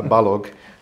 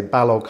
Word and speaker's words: Balogh: pronounce my name uh balog I always have to say balog hard G like Kellogg because it comes across